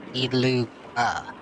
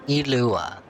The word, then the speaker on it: Iluga: Iluga is pronounced Iluga. Like Ilua.